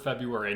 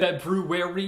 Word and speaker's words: February: It's spelled like it's supposed to be said February, but it's February.